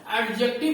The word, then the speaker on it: adjective: तो इसमें यह जान लीजिए आप लोग कि डी is silent, D is silent. एडजेक्टिव को हम लोग कहते हैं एडजेक्टिव कहते हैं। Remember, we don't say एडजेक्टिव, what do वी से? वी से इट एडजेक्टिव।